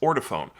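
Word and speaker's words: Ortofon: did my homework and according to the people who work there it is indeed pronounced order phone do with that what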